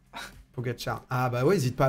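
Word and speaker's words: Pogačar: Et Pogacar, pas Pogacar. Pogacar.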